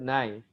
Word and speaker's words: knife: Okay, something like, okay, if you have the English word knife, and it has what? K Silent. sound, Nine. but K is Silent.